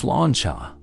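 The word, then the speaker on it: sláinte: The Irish say slate, pronounced slanchcha, meaning health.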